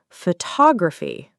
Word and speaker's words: photography: For example, photographer, noun, versus photography, noun plus suffix. Stress the wrong syllable and it sounds off. Exactly.